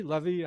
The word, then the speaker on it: Livy: And even though he's dead, I feel like as I read Livy, is it Livy? Levy? Am I pronouncing it right? I think it's Livy.